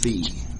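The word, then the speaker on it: phi: symbol that we're using to represent that is pronounced feet pH is another Greek letter so we have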